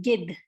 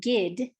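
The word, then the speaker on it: गिद्ध: Vulture is gid, gid. I'm not saying gid, like rhymes with did. I'm not saying gid, I'm saying gid. Do you hear me kind of enunciating that H at the end?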